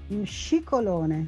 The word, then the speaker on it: Scicolone: Alors, comment vous prononcez votre nom ? Comme ça, on va se mettre tous d'accord. Scicolone. Ah, Scicolone.